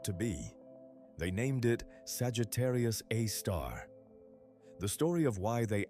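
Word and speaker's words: Sagittarius A*: To this day, every astronomer pronounces it Sagittarius A-star, and every paper writes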